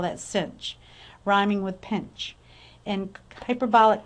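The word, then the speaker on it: sinh: Plus e x/2 and we often read the notation of hyperbolic sinx as cinch X so you'll hear me call that cinch rhyming with pinch and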